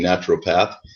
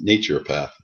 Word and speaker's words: naturopath: Eli camp natura pathak doctor I got corrected last week I was always saying naturopath and she corrected me and said the proper pronunciation is nature path is that correct yes